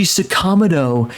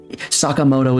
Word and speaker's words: Sakamoto: part of me dies every time I hear them pronounce the name Sakamoto Sako hey ryuji sakam get over here sakam like oh my God Sakamoto is not that hard or they pron like